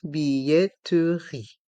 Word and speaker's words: billetterie: demi-tarif la billetterie ici dans le mot billetterie il y a le son ye avec les lettres i de Z on prononce billetterie et le E est mué un billet plein tarif